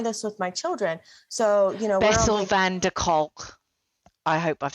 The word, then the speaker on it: van der Kolk: So, Bessel van der Kolk. I hope I've said that right. Bessel van der Kolk. Kolk. Yeah, Kolk. Kolk. I'm terrible at pronunciation.